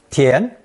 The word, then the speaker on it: 填: The fourth character is a combination of 土, meaning dirt or earth, plus 真, meaning real or actual, pronounced second tone, 田, 田.